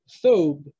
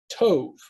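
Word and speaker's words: טוב: the hebrew word for good originally i was pronouncing it as phthobe with a sound but now i pronounce it like like the jews do tov or tube with with a vcn at the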